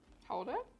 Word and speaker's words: Gouda: it's funny because you don't even pronounce Gouda like that in Dutch. Isn't it like Huda? Houda?